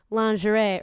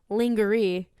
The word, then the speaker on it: lingerie: some of them get lingerie or as Kiera mispronounces linger II these girls need to